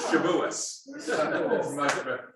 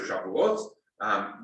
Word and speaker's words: Shavuot: We're going to have them for Shavuot, or better known as Shavuos. That's the difference of the Ashkenazi versus the Sephardi pronunciation. Okay. Yeah. Modern Hebrew uses the Sephardi, so Shavuot.